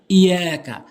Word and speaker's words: إياك: মালিকি ইয়াউমিদ্দিন, এবার 4 নম্বর আয়াত, ইয়াকা, অনেকেই ভুল করে বলে ইয়াকা ইয়াকা, অর্থাৎ তাসদীদটি উচ্চারণ করেই না।